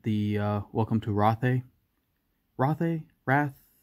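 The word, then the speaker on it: Rathe: uh welcome to rothe roth a wrath i've been told that it's not pronounced wrath it's i i think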